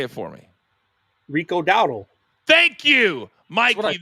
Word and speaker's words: Dowdle: Rico Dowdle. Thank you, Mikey. There's no W at the beginning of Dowdle. It's not Dowdle. It's Dowdle.